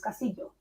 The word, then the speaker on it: Castillo: And it's not Castillo, it's Castillo. See, I'm glad you told me how to pronounce it, because Do you know what I mean?